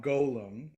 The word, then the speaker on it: Golem: rabbi Hebrew nerdy mode, should be pronounced with a long O, Golem.